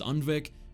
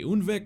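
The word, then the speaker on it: Undvik: defeat by the way i do realize that jalmar says unvic geralt and most other characters say unvik so i guess i'll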